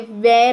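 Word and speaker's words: were: है, इसके लिए हमने वेर यूज़ किया. दे वर वॉचिंग अ मूवी. हमें इसे वेर ऐसा नहीं प्रोनाउंस करना है, हमेशा याद रखिए. दे वर watching a movie, not वेर, इट इज़ वर.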